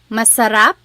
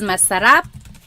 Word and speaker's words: masarap: your food is delicious someone said it masar oopsie delicious is masarap then it's the word